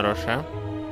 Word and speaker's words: Роше: Я твою фамилию прочитал по Ведьмаку, потому что там Вернан Рош, по-моему, пишется вот так же, как твоя фамилия, но читается Рош. А у тебя, я понял, Роше.